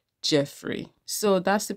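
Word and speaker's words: Geoffrey: I know I called him Joffrey instead of Jeffrey earlier. Um, yes, some people depending on location say Joffrey or Jeffrey, but his own name is pronounced as Jeffrey.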